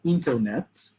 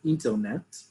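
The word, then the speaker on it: אינטרנט: here under cognate internet they'll say it like that intelnet they're not going to say internet because we don't have those sounds in hebrew we say intelnet um or internet if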